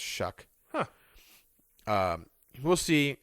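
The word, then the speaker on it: Shough: It's spelled like Shuff but like it's pronounced Shuck.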